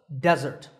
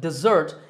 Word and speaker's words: desert: with the single s can also be pronounced desert in one situation when it's used as a verb and it means to